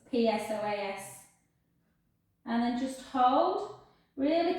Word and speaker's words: psoas: it google it guys it's got a silent p so it's psoas and then just hold